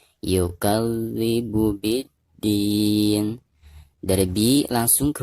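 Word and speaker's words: يُكَذِّبُ: Yukal, dari kaf ke zal itu ada tekanan karena huruf zal itu adalah huruf musyaddad ya, atau huruf yang bertasydid. Maka cara membacanya itu harus ditekankan ya. Yukadzibu biddin.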